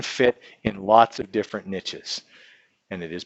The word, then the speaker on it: niche: specialized they can fit in lots of different niches and it is pronounced niche not niche that's the French way of saying